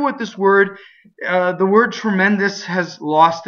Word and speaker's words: tremendo: Tremendo. So, the E is open on the stress. The one on the not stress is closed, and also the O. Be careful with this word. The word tremendous has lost its original meaning in English.